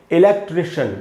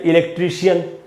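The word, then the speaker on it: electrician: अभी हम बोलते हैं इलेक्ट्रीशियन, जो लोग भी बिजली का काम करते हैं, इलेक्ट्रीशियन। तो दोस्तों, इलेक्ट्रीशियन नहीं होगा, जैसा कि रूल है इलेक्ट्रिशियन। इस प्रकार से हमको पढ़ना चाहिए।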